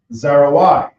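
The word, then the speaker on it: זרוע: easy to follow and the arm in Hebrew is pronounced zarai so that would be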